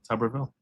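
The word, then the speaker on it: Tuberville: Tubberville.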